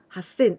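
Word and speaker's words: はっせん: other irregular one has sin with jump sound hassan a thousand and q sin let's practice how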